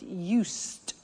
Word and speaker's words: used: speaking Italian every day listen to the pronunciation I said used with t sound used not used or